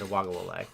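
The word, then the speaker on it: Uiagalelei: So DJ Uwagalele became the first Uwagalele, I think is actually how it's pronounced. You're better than I am. It's Uwagalele.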